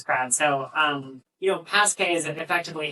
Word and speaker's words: Pass@K: I don't know how to say it. Is it like Pass@K? Mhm. Yeah, Pass@K.